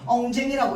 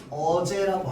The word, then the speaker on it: 어제: 엉쟁이라고 읽으면 안 되고 어떻게 읽어야 되느냐? 어제라고 하 읽어야 됩니다.